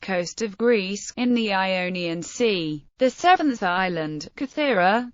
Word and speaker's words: Ionia: In modern Greek, omicron and omega represent the same sound, but the two words are still distinguished by stress. The western, Ionia, is accented on the antepenult, and the eastern on the penult.